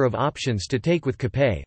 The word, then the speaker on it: kapé: Filipinos have a number of options to take with cape, which is the Filipino pronunciation of cafe, coffee, breads and pastries